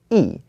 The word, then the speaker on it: 一: But if this is paired up with a word that has the second tone, then the E changes to the fourth tone and it becomes E. So here it's not E Mao, it is E Mao.